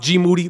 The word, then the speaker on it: GMoody: I would never disrespect or make up some shit or talk any shit about GMoody. Last name rhymes with duty.